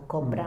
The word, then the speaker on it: Chopra: Como dice Chopra, o Copra, no sé cómo Chopra, se pronuncia, sí.